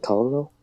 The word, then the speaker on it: colonel: Acting swiftly, the colonel, is that how you say it? Colonel? Colonel. Colonel, okay.